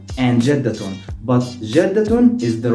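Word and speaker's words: جدة: with a half sound so we can say jeddah and jeddaton but jeddatun is the right pronunciation of the word grandma jeddah so you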